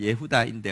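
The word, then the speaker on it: יהודה: 정확한 발음은 예후다인데 어쨌든 야다에서 유다가 나온 것입니다.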